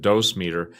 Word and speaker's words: dosimeter: who work around nuclear materials usually have a dosimeter. Some people pronounce it dose meter, which is basically a miniature recording Geiger counter